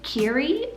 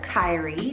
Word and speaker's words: Kiri: This one is so pretty, and that is the name Kiri or Kyrie, depending on how you want to pronounce it, spelled K-I-R-I.